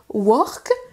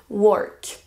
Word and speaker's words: work: ne se prononce pas work comme un haut on prononce pas le haut comme un au français vous pourriez marquer par exemple work de cette façon on entend à peine le r work si vous voulez plutôt